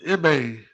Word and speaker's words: Ime: Well, it was some rumblings, that I heard a couple of days around social media that Ume Udoka, he gonna try to go after Kevin Durant and Say Jimmy. Ime Udoka.